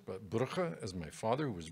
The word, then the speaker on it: Brugge: And there you'll see a vial of Christ's blood, which is housed in the most beautiful city of Brugge, Belgium, not Bruges, as the French would pronounce it, but Brugge, as my father, who was born there, would pronounce it.